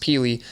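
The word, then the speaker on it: Pili: in my opinion, is Keenan, I think it's Peely. It's pronounced Peely.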